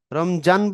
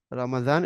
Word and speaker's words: রমাদান: যেমন নামাজ, এই যে যেমন বলা আছে নামাজ, মুয়াজিন, জোহর, কারণ জোহর বললে ভুল, রমজান বললে ভুল, হজরত বললে ভুল, মুয়াজ্জিন বললে ভুল। এটার উচ্চারণ হজরত, রমাদান, এটা তো আরবিতে দাল দিয়ে লেখা, রমাদান, দোহর, মুয়াজ্জিন, নামাজ, এরকম কাজা, উজু, আজান, এরকম।